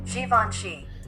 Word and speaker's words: Givenchy: Time for the top 3 mispronounced words in hip hop. All right, the number 3 spot we got Givenchy.